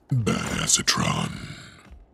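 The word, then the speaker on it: Badassatron: to myself or anything actually it's pronounced bad acetron in case you were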